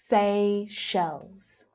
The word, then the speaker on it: Seychelles: Seychelles. Seychelles. Now the second syllable is actually the stressed one. Shells. Sounds a lot like shells. Seychelles. And don't forget the plural z sound at the end.